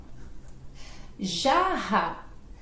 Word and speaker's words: jarra: Eu acho que é por causa do som do J e esse Rá, né? Então jarra, jarra, ó, jarra. Aí garganta, né? Vai sair da garganta.